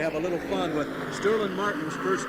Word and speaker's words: Sterling: or not to G Sterling says that you don't pronounce the G you don't put the